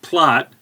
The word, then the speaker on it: Plath: the name should actually be pronounced plot but we're in the usa and we change immigrants names her father otto was